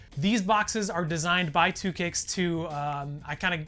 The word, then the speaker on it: 2Kicxs: company based in wisconsin called two kicks it's just two kicks but it's spelled differently you can check them